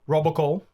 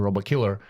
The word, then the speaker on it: Robokiller: So we got our first sponsor, Robocall.